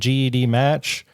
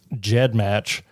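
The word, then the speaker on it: GEDmatch: their owners the named GED match it's actually pronounced Jed match refers to the file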